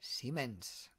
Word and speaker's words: Siemens: por cierto se dice siemens si no se dice siemens bueno en españa si existe ciments una y larga como